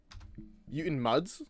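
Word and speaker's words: Mutant Mudds: Mutant Muds, you mean? Oh, that's how you say it.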